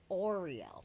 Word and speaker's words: Auriel: i e l and that's like oriole that's like pronouncing it it's auriel it's not ariel you're not pronouncing it in a and he didn't think